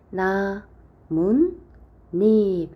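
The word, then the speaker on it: 나뭇잎: 번째 니은 니은이 덧난다 나무와 잎이 만납니다 자 이때에 나문 닙 하고 발음 되니까 니은 니은이 덧나서 옷을 써 주면 요게 사이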